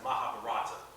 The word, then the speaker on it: Mahabharata: That's Mahabharata. Okay, Mahabharata. Mahabharata. Let's see if I can spell it right.